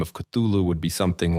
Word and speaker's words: Cthulhu: the record and say that the first part of the name, the C, is pronounced sort of like a cough, and the last part is, pronounced different than how it's spelled as well.